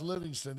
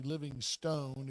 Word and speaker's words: Livingston: The other thing I want to share with you is did you see where Parker Livingston, pronounced Livingston, even though his name is obviously Living Stone if you see it, he entered the portal?